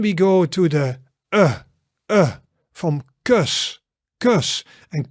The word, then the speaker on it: kus: Then we go to the from kus. And kus is a kiss. And actually it's pronounced similar to dirt, but shorter.